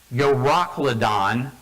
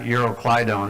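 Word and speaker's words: Euroclydon: And then there's this actually it's pronounced yoracladon not euroclaidon or it's yorocadon.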